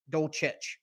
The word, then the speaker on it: Dolce: job again against uh Greg dosage Dolce silent h in there somewhere uh but Dolce has